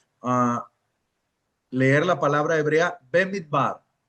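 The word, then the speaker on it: במדבר: ¿Alguno de ustedes de los eh de los demás estudiantes quieren ah leer la palabra hebrea bemit bar o pronunciarla?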